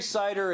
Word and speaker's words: CIDR: notation so I suppose we're not talking about something made out of apples right yeah it's a little bit different but it's pronounced the same right when we say cider again we're talking about